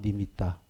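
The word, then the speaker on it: animitta: 그 A 니미따 A를 아라고 발음합니다. 빨리어에서. 그러니까 니미따.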